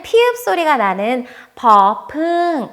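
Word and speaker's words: บ ใบไม้: 다음 글자는 " 보 바이마이 " 인데 , 'b' 처럼 발음 됩니다 .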